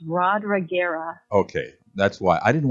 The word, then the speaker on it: Rodriguera: It's Rodriguera, and I'm still learning how to spell it.